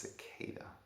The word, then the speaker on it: cicada: about a giant killer sakata and also how many um comments am I going to receive about my pronunciation of sakata how many viewers are going to tell me that it's pronounced cicada because very often uh